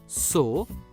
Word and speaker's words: sow: दोस्तों, ध्यान दीजिए, इस शब्द में W साइलेंट है और O की तीसरी आवाज मतलब O का उपयोग हुआ है, और इसलिए SOW उच्चारण होगा सो।